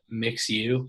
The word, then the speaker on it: MXU: find something however there's a podcast called uh mix u which is spelled mxu um they have some youtube